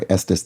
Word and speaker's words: Estes: Estus because it rhymes with the bestest.